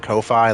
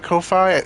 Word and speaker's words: Ko-fi: Is it Ko-fi? It's got a dash, so I assume so. Because if not, it would be just coffee. Ko-fi, like lo-fi.